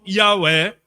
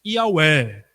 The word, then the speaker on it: Yahweh: A pronúncia ali, mais ou menos, Yahweh.